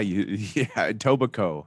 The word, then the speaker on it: Etobicoke: It's Etobicoke. Yeah, Tobaco. Oh. You don't spell it Coke.